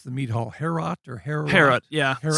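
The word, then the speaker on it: Heorot: Herot or Herot? Herot, yeah. Herot. So that AO is a diphthong, so it's two syllables, but it is a diphthong, so it's an AO. Herot.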